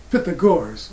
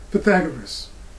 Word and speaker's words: Pythagoras: of numbers and that's is fit the guards or some people who mispronounce his name and say pythagoras he spoke of the